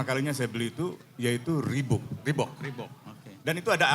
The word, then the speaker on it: Reebok: Jadi tahun 88, Amnesty International itu bersama sepatu, ini bacanya Reebok apa Reebok, Reebok.